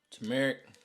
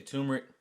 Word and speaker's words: turmeric: the dye came in turmeric some people say turmeric I say based off of how to sh spell that's one cap next